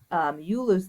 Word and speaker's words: Euler: start doing is talking about a theorem called Euler's theorem and I want to tell you what it is first oh it's sorry it's not pronounced you lose it's pronounced eulers eulers so this is Euler's